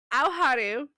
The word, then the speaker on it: Aoharu: It's Aoharu.